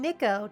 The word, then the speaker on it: Niko: By the way, I'm not saying Niko to mess with you. That's how they all pronounce it.